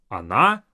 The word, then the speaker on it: она: But for these 3, the first O will sound as A, even though it's spelled as O.